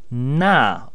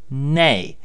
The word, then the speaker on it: 那: the word also pronounced it has two acceptable pronunciations this word means those so here's a brief explanation about these two characters firstly na also pronounced nay means that so this